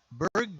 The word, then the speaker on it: Burgh: name is spelled b-u-r-g-h he said it's uh berg just like pittsburgh so we can go